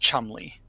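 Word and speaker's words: Cholmondeley: The name Chumley, which is spelled CHOLMUNDLEY, and it's pronounced Chumley.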